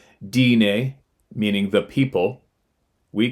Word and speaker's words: Dene: In our language, Navajo, Dene, pronounced Dine, meaning the people, we call Sasquatch Ye Tso, giants.